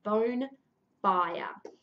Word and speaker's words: Bonefire: be very clear that it is bone fire as in Beltane fires the burying of the